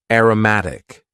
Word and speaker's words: aromatic: Next, we had an adjective, aromatic. Aromatic. And please focus on the pronunciation here. Aroma as a noun. Aromatic.